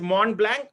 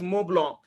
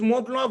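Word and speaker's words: Montblanc: right it is moong a lot of people pronounce it as mon blank but uh the you know uh it is actually a brand from Italy and they pronounce it as moblo it is moblo 149 now just imagine know around you know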